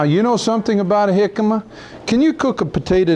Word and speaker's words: jicama: we call this a jicama it's spelled j-i-c-a-m-a and we pronounce it jicama because in spanish that j is pronounced as an h and when you cut